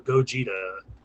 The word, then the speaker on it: Gogeta: went from vegito to gogeta so the new guy name is what now when they form together the newest movie it's spelled go ghetto but it's gogeta okay cool go get it he's got like red